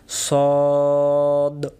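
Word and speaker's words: صاد: দোয়াদ তাহলে আমরা সোয়াদও না দোয়াদও না সঠিক উচ্চারণ সদ বলেন টান দিয়ে বলেন সদ আবার বলেন সদ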